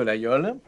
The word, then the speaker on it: Laguiole: L'Aïole, c'est ainsi que prononcent les gens du pays, est une petite ville au pied de l'Aubrac dans les hautes terres occitanes.